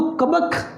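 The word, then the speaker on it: کبک: इस बात से कुबक भी पढ़ते हैं, बाज़ डिक्शनरी के मुताबिक कुबक भी ठीक है। हम भी पहले इसे बाज़ कुबक की प्रोनाउंसिएशन से इसको अदा करते थे, तो लेकिन अब जब इसको दोबारा से गौर किया गया है तो ये इसके ऊपर ज़बर भी लगी हुई है।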